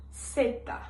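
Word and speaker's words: zeta: Então, a letra Z no espanhol ela fica seta. Za.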